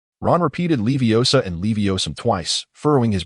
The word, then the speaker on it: Leviosa: Because you mispronounced the incantation. If I remember correctly, the spell you uttered was Leviosum. Ron repeated Leviosa and Leviosum twice, furrowing his brow in confusion.